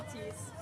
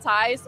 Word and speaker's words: Thies: It's Thies. Thies. And a lot of times it's like they call it Tais, or in USA actually they call me a lot.